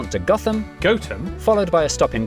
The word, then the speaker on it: Gotham: toester toter then a quick J to Gotham goam followed by a stop in quernmore quma before